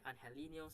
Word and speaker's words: Angelino: it Angelino is Angelino I think it's different pronunciation for different kind of people really some people call ANH helino some call Angelino call him whatever you want for BR Fernandez Crossing